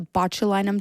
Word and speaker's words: botulinum: ingest a toxin right what is it a botulinum toxin is that how you pronounce it yeah it sounds very scary so